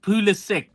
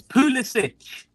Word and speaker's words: Pulisic: The Americans say it with the hard C, Pulisic. No, Yeah, it's Pulisic.